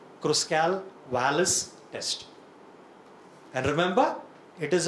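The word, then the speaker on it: Kruskal-Wallis: little time sounds little uh difficult when you pronounce it k r u s k l w a l l i s cross Cal Wireless test and remember it is a non-parametric equivalent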